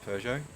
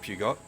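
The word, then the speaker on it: Peugeot: first came to Australia people didn't know how to pronounce it pjo so they used to call it pugot that's the Australian as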